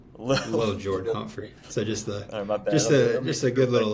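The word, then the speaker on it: Lil'Jordan: got to pause you I think it's pronounced Lil not little Lil Lil Jordan humpry so just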